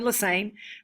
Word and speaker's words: Lasain: And um I'm Lasain. My last name rhymes with insane. That's how you kind of remember. Uh not how to spell it, but certainly how to pronounce it.